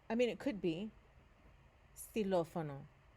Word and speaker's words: xilófono: Xilófono. Notice here this letter O has an accent on it. It's not too important right now, but notice was xilófono. It puts a stress on that vowel, doesn't it?